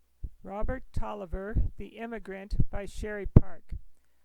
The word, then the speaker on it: Taliaferro: name is talia farrell which is often pronounced toliver i followed this line